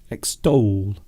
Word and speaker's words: extol: strange world of english extol yes it does sound like stole but extol hello to oh we